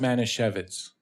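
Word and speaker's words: Manischewitz: you should try and do that and it's pronounced Mana shevitz I knew when I was I have to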